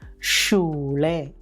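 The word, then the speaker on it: Schule: പുഷ്പയിലെ ഷ്പ ഉദാഹരണം ഷ്പിൽ എസ് സേഹ ഒരുമിച്ചു വരുമ്പോൾ അത് ഷ ഷവർമയുടെ ഷ എന്ന രീതിയിൽ വേണം ഉച്ചരിക്കാൻ ഉദാഹരണം ഷൂളെ പേയും എഫും ഒരുമിച്ചു വരുമ്പോൾ അതിൻറെ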